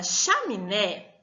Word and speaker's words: chaminé: Na palavra chaminé, a sílaba tônica tá fácil porque ela está acentuada, não é? Então, a sílaba tônica da palavra chaminé é um né, certo?